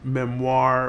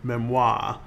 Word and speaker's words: memoir: i want to say it really makes no difference whether you pronounce the word as memoir or memoir either way it's still french for memory a memoirist wants to